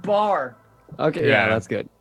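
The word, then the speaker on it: Baar: It's just called bar. Okay, Yeah. yeah, that's good. That's good. Yeah, but it's spelled all It's- wrong.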